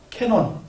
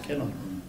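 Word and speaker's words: Canon: 그래가지고 관음이라고 한자로 썼는데 관음이라고 하니까 이제 세계로 나가는데 종교적 벽도 있고 하니까 그냥 캐논, 그 일본말 발음을 그대로 쓴 거예요. 캐논.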